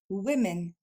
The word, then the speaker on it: women: fois woman alors que son pluriel lui va se dire Wen on retrouve deux fois le son e men encore une fois ou plus rapidement women encore une fois women